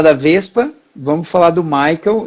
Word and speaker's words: Maikel: da gente falar da vespa vamos falar do Michael e eu espero que esteja pronunciando teu nome certo Ah sim então tá